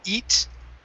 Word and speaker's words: eat: pronouncing an e okay you can feel the difference because your tongue raises up and points down okay so uh it would be good for you to to practice minimal pairs looking at words like it and eat okay it and eat in pronouncing those differences eat it eat okay and really it's it and then the tongue curves up eat it eat okay